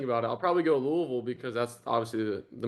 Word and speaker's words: Louisville: You can't It's not Louisville. It's a Louisville.